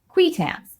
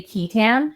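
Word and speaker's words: qui tam: and those lawsuits are called quams which is the proper pronunciation that is not how I pronounce it to my great shame I cannot not say ketan the people who bring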